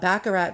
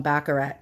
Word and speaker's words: Baccarat: one comes with a baccarat glass bottles uh i call them baccarat it's a new yorker's way of pronouncing everything wrong but it's a actually baccarat glass and look how beautiful